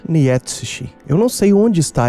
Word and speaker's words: Nietzsche: Eu não sei dizer porque sentimos conforto em falar Freud, que tá mais perto da pronúncia do nome do pai da psicanálise em alemão, e talvez desconfortante falar Nietsishi.